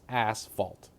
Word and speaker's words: asphalt: and see that it is not Ash it's asalt asalt that's how it's pronounced okay so that's my second pet peeve